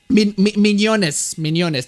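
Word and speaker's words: Mignonnes: to put in there netflix isn't it um mignones that's how you pronounce it well there you go thank you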